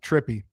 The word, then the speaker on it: Tripi: Uh, it's just like if you were talking about like a 70s hippie, just just add tr on the front of that. Trippy.